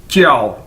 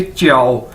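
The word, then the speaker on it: 叫: आपने पहले भी देखा है कि जे को हम चे के तौर पर इसको प्रोनाउंस करते हैं, यानी जे चाइनीज के अंदर चे के तौर पर प्रोनाउंस किया जाता है, बोला जाता है। तो JIAO ये चाइनीज वर्ड है और इसको कैसे बोलेंगे? च्याओ।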